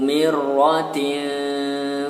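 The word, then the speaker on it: مِرَّةٍ: Dzu mirratin fastawa. Dzu ya. Pengucapan huruf za seperti yang Ustaz beritahu di awal tadi. Zu. Mirratin, ro-nya bertasydid.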